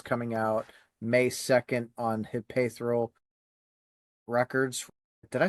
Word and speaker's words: Hypaethral: I say it as like Hypaethral Records. So yeah, you're close. I'm somewhere in the realm. Sorry, Hypaethral, whatever it is.